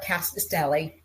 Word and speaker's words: Rkatsiteli: So we're here to talk about our Rkatsiteli.